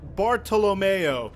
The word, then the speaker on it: Bartolomeo: asked Scott in bocce you would think his name is Bartholomew but they pronounce it bartolomeo little tiny things like